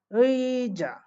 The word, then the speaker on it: 의자: ওই যা, দেখেন আমি উই বলছি, উই উচ্চারণ করতেছে, ঠিক আছে? কারণ আমি বলছি প্রথমে বসলে ইয়ং যুক্ত অবস্থায় উই উচ্চারণ হবে, অর্থাৎ ইয়ং যুক্ত থাকতে হবে, হ্যাঁ?